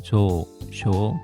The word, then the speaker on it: 上昇: 조쇼 둘 다 장음입니다.